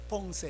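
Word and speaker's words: Pensées: 원래 발음은 이제 뻥세 이러는데, 그런데 그게 이제 1부가 있고 2부가 있는데, 1부는 하나님을 떠난 인간의 비참함이 뭔가 이런 걸 다뤘고, 2부는 뭐예요?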